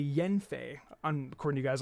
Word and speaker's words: Yanfei: guys told me that yanfei is not pronounced dion fans actually yen faye i'm according to you